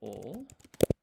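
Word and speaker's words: を: So this is ma, shi, so, vo pronounced o, ru, ri, skip this one for now.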